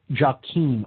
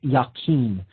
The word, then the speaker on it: Jachin: This pillar is known as the pillar of Jachin, or sometimes pronounced Yakin. That's Jachin.